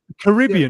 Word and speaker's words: Caribbean: So how do you say Caribbean? It again? Caribbean. Yeah. It makes sense because it's named after the Caribbean. Caribs. The Caribs were, so Caribbean kind of makes sense.